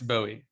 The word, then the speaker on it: Bowie: How do you pronounce it? Is it Bowie or Bowie? It's Bowie.